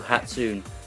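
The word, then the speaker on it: 初: so hatsu Miku also referred to as Miku hatsun as a humanoid Persona voiced by a singing synthesizer what hatsun miku's name comes from the Japanese word for first which is pronounced as hatsu in Japanese the any on the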